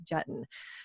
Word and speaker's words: Juetten: Is it It's Juetten like button. Juetten, perfect, like button.